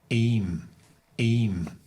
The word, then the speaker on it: İyiyim: İyiyim. Ben iyiyim. Okay, I know we are breaking these up phonetically, so please bear with us.